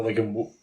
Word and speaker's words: Wigan: At the Wigan. Rhymes with the Big and Bear.